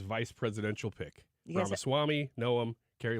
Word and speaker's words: Noem: presidential pick yeah Swami noem Carrie like her other noem how do you pronounce it gnome like started with a G ah the gnome